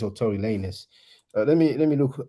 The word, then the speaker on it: Tory Lanez: Now, Tory Lanez, I don't even know if you pronounce it Tory Lanez or Tory Lanez.